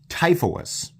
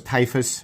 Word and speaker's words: Typhoeus: This is the WE Typhoeus, which apparently is how you pronounce that. I thought it was Typhus or Typhoeus or something.